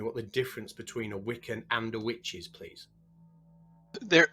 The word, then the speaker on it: Wicca: explain to me what the difference between a wiccan and a witches please there there isn't much of a difference the the two words are etymologically uh similar wicca is actually is pronounced witcha and that's an that's an old angle i